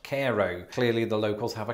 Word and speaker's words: Cairo: But as I've just discovered, Cairo, Illinois is pronounced Cairo.